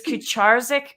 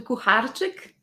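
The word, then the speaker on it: Kucharczyk: last name not once is kucharzik correct not really it's more closer to kuharchik oh my goodness i'm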